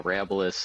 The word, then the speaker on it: Arabilis: So is it Arabilis? Yep. Oh, you nailed it. So not many people do, but we answer to a lot of it. But yeah, Arabilis is how we've been pronunciating it, and it's from the Latin word